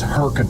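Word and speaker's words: Hurricane: It's easy, guys. Come on. Wrong. It's herkin.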